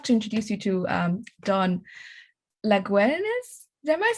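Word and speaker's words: Laguens: And I have to introduce you to Don Laguenes. Am I saying it right? It's unacceptable if I don't, so you correct me. No, very, very close. Laguenes.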